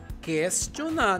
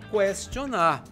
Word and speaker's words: questionar: ue se pronunciamos questão devemos pronunciar questionar não cuestionar a água é um